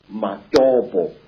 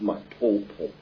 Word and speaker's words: Matobo: And one of these parts of Africa, sir, is a remarkable place called the Mountains of the Round Rocks, Matobo, wrongly pronounced Matopo, in Zimbabwe.